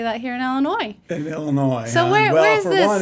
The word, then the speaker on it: Illinois: In Illinois, well, for one, it took me a long time not to say Illinois because I I was told that there is a silent s at the end of it.